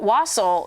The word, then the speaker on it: wassail: But yeah, so Wassel, David Loria from YouTube.